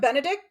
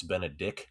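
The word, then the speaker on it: Benedick: It's Benedict, not Benedict. There is no T. Yeah. Awkward. It's a K.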